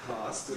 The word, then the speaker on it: past: If you're American, you say past, but if you're British, you say past.